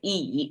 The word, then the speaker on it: 乙: This E, pronounced as E concept in Chinese, is quite abstract, actually.